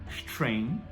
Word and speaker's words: strength: A princípio, esse G ele não é pronunciado, a gente vai falar strength, tá? Strength, beleza? Esse tudo bem? Junta ST, não tem um I antes, não é strength, então começa com strength, e depois strength.